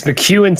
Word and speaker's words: McKeon: name correctly is it mckeon it's mcewen technically but it's pronounced way differently wherever you ask whoever you ask so